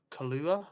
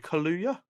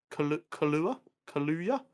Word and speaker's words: Kaluuya: Spider-Punk, who's going to be voiced by David Kalua. I feel like I completely butchered that name. I'm so sorry. I think that's his last name. I don't think that's his first name. It's David Kaluuya. Kaluuya.